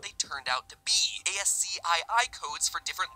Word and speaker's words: ASCII: ASCII codes for different letters of the alphabet. For those of you who don't know, ASCII codes, or ASCII codes as it's properly pronounced, ASCII, The cringe is so real in that one.